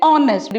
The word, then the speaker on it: honest: an when i say honestly we don't pronounce it as hornets we pronounce it as honest again it's o h is silent so we use the